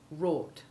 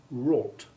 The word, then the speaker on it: wrought: thought sought naught ought wrought now you say those words noting the silent w in wrought and here's a little